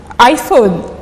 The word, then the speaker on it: iPhone: c'est en anglais le le i en anglais se prononce a c'est tout à fait normal je sais pas si je dois dire aucun d'ux n'avait tort logiquement aucun d'ux n'avait tort celui qui prononcit exactement il il était bien conscient parce que l'écriture l'orographe de de l'iPhone c'est avec un i mais en anglais vu que c'est un mot anglophone on le prononce a iPhone mais celui qui qui